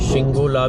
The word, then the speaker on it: Shinku La: तो हम जा रहे हैं जी एक्सपीडिशन करने विंटर का, स्नो का, शिंकुला। ठीक है जी, शिंगोला भी बोलते हैं कई लोग, या ये कह लो कि गूगल में जो स्पेलिंग मैंने पढ़े थे वो शिंगोला पढ़े थे।